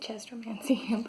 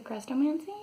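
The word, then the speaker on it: Chrestomanci: my books of well i always pronounce it chest romancing but i know that there's a pronunciation in it that it's technically crestomancy but when i was reading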